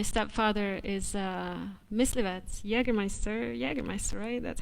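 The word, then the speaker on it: Jägermeister: home and my stepfather is uh mislived jagermeister jagermeister that's how you say it yeah just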